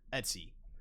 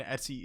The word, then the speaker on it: etc: directories on your system the etsy folder short for etc and etsy is the common way to pronounce this it's pretty fast and